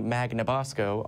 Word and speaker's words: Magnabosco: Magnabosco on social media, the internet, the interwebs. Perfect pronunciation, too.